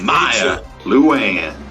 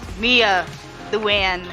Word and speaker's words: Mia Luann: team, allow us to Maya Luann. It's pronounced Mia Luann. Get it right?